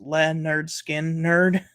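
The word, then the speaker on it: Lynyrd Skynyrd: by Paul McCartney uh Leonard Skinner's first album pronounced Le nerd skin nerd um inner Visions by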